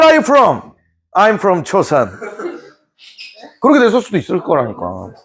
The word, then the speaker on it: 조선: 이렇게 물어봤는데 조선이야 조선. I got it. 초선. 초선이 아니고 조선이라니까 얘 제 발음이 안 되네.